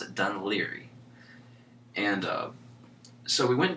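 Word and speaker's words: Dún Laoghaire: ly uh on the map it looks like dun Lahar that's what it looks like on map but they pronounce it dun ly and uh so we went down there and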